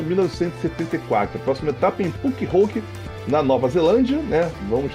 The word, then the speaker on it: Pukekohe: E eu demoro pra aprender que é Pukekohe. Eu falei errado aqui também. Não, é horrível acertar. Eu nunca acertei direito a pronúncia.